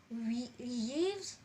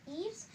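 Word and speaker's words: Yves: do we call it leaves no it is not called as leaves but it is always called as Eaves as the Y here is silent so we will pronounce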